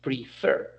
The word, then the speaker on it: prefer: In this case, the pronunciation is prefer, and the accent goes to the last syllable.